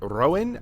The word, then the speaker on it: Rouen: Toronto in Canada and Rouen, I believe is how it's pronounced, in France.